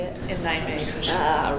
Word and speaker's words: Nijmegen: In Nijmegen.